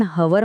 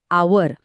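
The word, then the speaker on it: hour: शब्द आहे आवर स्पेलिंग सुरू होतं एच ने जे एक व्यंजन म्हणजे कॉन्सोनंट आहे पण आपण हवर म्हणतो का नाही आपण म्हणतो आवर इथला एच गप्प बसलाय तो सायलेंट आहे पहिला आवाज येतो आचा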